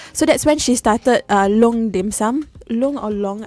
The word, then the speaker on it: Loong: So that's when she started Loong Dim Sum. Loong or Long, I don't know how to pronounce it. So it's dragon. Dragon is long. Long.